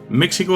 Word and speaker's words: México: conquista de la colonia El fonema sh había caído en desuso en el Castellano debido a esto la x pasó a ser J de ahí que ahora se pronuncia en México la palabra proviene de